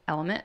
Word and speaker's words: LMNT: element packet we love the company element it's spelled lmnt and they're an electrolyte